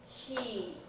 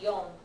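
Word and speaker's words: 四: them is ich me she go oh sorry um not she yon that's the other thing yon and Nana are standard for phone numbers because she and Shi and I sound too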